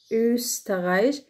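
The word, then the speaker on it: Österreich: ايه ايه الحرف التاني، حرف بيتنطق كده ايه ايه، خلوا بالكم من تدويرة البق كده واحنا بننطقها ايه ايه، زي مثلا كلمة اوسترايش اوسترايش اوسترايش النمسا، وزي كلمة شون شون معناها جميل.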